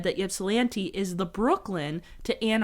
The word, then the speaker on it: Ypsilanti: But it has been said that Ypsilanti is the Brooklyn to Ann Arbor's Manhattan.